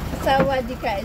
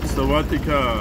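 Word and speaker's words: sawatdee ka: And sawadika is a good morning. Good morning. Nice. Yes. Wow. Good morning, Thailand. Like that. Sawadika. Sawadika. Yes. Sawadika. Sawadika. Sawatika, like that. Saying Sawatika.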